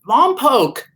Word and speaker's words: Lompoc: i'm so excited about is people learning to pronounce the word lompoc oh yes everyone has done such a great job mom poke it's so simple anyway i just wanted to